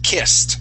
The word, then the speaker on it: kissed: returned returned good and kissed with a t sound kissed kissed good nice